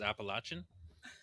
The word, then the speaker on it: Appalachian: said it Appalachian okay that's how it's proper pronounced Appalachian it's Appalachia um Appalachian you know but we